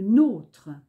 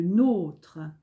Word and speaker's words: nôtre: n'ont pas d'accent circonflexe et si vous avez bien écouté la prononciation est différente je reprends notre appartement le nôtre votre appartement le vôtre adjectif possessif c'est notre le pronom c'est le nôtre alors que les adjectifs